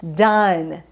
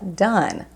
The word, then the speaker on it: done: né O primeiro é done done do verbo to do então você não fala Don você fala done done é o verbo